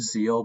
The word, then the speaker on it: Zexal: I believe that's how you pronounce it. Zexal. I've heard Zeal, but I think it's Zexal.